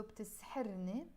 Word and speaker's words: بتسحرني: And the ni, which we pronounce as more ne in Lebanese when I'm speaking in real life. So بتسحرني, that's you mesmerize me or you charm me.